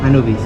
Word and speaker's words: Anubis: Anubis, no sé cómo se pronuncia. Anubis, sí.